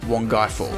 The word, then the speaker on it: Wangi Falls: This place is actually pronounced Wongai Falls. All right, I've just arrived at camp at Wangi Falls.